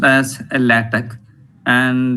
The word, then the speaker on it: LaTeX: micro packages and it has it is actually pronounced as a latic and x is silent actually and it is